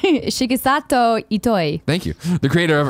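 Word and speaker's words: Shigesato Itoi: passed away in 2015 a similar interview with shi-gen Sato Ito I creator of earthbound in fact what totally it's okay no say it right Shiki Sato eat I thank you the creator of earthbound and founder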